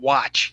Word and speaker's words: uatch: One of the terms that's used that applies in Egypt is transliterated to UATCH. You can pronounce it watch.